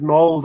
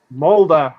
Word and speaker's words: Molde: Arsenal yesterday defeated Molde 3-0. Molde, I pronounced it correctly, Sam.